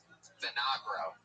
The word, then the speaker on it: Vinagro: Vinagra? How do you say it? Vinagro.